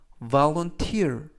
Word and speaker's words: volunteer: 뜻이 되겠습니다 이번 표현은 volunteer volunteer volunteer이라고 발음하시면 되겠고요 이때 강세는 알파벳 2의 강세가 있습니다 그래서 volte이라고 발음하시면 좋겠고요